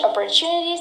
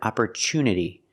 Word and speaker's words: opportunity: This job doesn't offer much opportunity to exercise my creativity. That's right, we don't pronounce it opportunity. The TU is not pronounced with the ch sound. It's pronounced with a T sound.